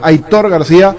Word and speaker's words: Aitor García: Aitor García. Hay que acostumbrarse. Él mismo dice que así se pronuncia.